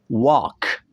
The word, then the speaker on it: walk: Atau ada di ejaan A dan L, talk, walk, L-nya kita hilangkan suaranya.